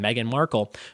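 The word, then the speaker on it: Meghan Markle: Meghan Markel number one her name is spelled like my sister-in-law Meghan's with the H in there M eg Haan Meghan Markel number two and what month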